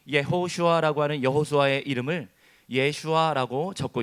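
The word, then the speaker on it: יהושע: 히브리어 성경에 여호수아의 이름이 예호슈아라고 적혀 있어요. 히브리어 발음으로 예호슈아라고 하는데 그 동명이인이 성경에 많이 등장합니다.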